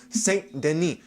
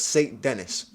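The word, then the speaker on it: Saint Denis: benois St Deni and I was saying that name wrong wrong the entire time I am so pissed that in every freaking podcast I said was St Dennis and it's St Den you find something new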